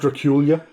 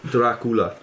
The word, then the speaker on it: Dracula: It's pronounced Dracula. Dracula. Based heavily off Vlad the Impaler. Dan, it's Dracula. No, You have to roll the R.